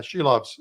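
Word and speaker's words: Silovs: So it's going to be either him or uh Sheilobs. Uh did I pronounce that right? She loves. Yeah, she loves.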